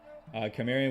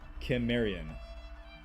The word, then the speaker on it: Cimmerian: Apparently the old world way of pronouncing Cimmerian was with a K sound. Cimmerian. But more recently it has been pronounced in the movies' audiobooks with an S sound.